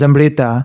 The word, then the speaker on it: Amrita: Amrita is not an English word, it's a mythological Hindu word. The actual pronunciation is Amrita, and according to Hindu